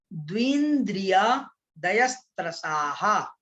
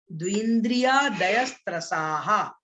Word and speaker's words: द्विन्द्रियादयस्त्रसाः: देखो उच्चारण कैसे करना है आपको, द्विन्द्रिया, देखो कैसे, द्विन्द्रियादयस्त्रसाः, द्विन्द्रियादयस्त्रसाः, द्विन्द्रियादयस्त्रसाः। ठीक है, ऐसे इसका उच्चारण करेंगे।